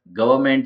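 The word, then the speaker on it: government: वो by mistake है बट गवर्नमेंट जो है उसमें न साइलेंट रहता है तो गवर्नमेंट स्पेलिंग है जबकि यहां पर जो स्पेलिंग लिखी है वो रॉन्ग स्पेलिंग है तो गवर्नमेंट में एन लिखा हुआ लिखा हुआ रहता है बट वह साइलेंट रहता है उसकी बोलने की जरूरत नहीं होती है तो गवर्नमेंट जो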